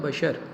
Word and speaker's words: بشر: پیدا کیا جس نے۔ تو بشر لفظ تلفظ آپ نے صحیح بولنا ہے، تو یہاں لفظ ہوگا بشر۔ آئیے اب MCQs دیکھیے۔ پہلا ہے نظم حمد کس شاعر کی تخلیق ہے؟